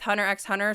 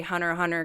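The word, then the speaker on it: Hunter × Hunter: Some people say, "Oh, well, like originally in Japanese, you're supposed to say hunter hunter cuz it's not really supposed to be like the X isn't really like pronounced, but the Okay.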